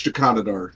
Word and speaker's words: Jakanadar: Everybody else mispronounces my name, but it's Jakanadar normally.